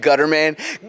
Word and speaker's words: Gutterman: I'm actually in kwn Gutterman gutter man I gotta say it like that I have now been